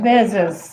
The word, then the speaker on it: Bezos: Bo, I can't pronounce his name. Bozo. Bozos. Bozo. Bzo. Bezos.